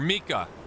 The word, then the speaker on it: Mika: Or Mika. Is Mika. I said Micah last time, didn't I? But it's Mika, right? I forget. Yeah, Mika. I'm pretty sure it's pronounced Mika.